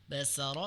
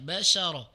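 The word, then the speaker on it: بشرا: yaah ee mufaiz ya tadi terbaca bahasa Saro basaro harusnya basyaro.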